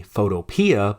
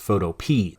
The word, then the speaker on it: Photopea: I'll often say Photopea, but I believe it's pronounced Photopea.